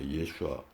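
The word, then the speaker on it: Yeshua: 예슈아. 예슈와 소테리아.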